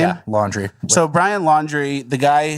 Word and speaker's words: Laundrie: Yeah, Laundrie.